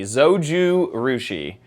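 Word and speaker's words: Zojirushi: Zoji Rushi. Zouju Rushi. Zoju Rushi.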